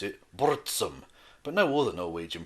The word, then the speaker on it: Burzum: with his one-man band, Burzum, or as he pronounced it, Burzum.